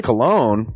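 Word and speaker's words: Colon: It is a self-published book by Christopher Cologne. Chris Cologne? Smells good to me. But look at her. That broke that fucking cold little exterior. He's like, hee. But it is spelled C-O-L-O-N.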